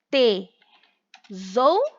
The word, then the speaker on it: tesoura: O S aí tem som de Z, tá?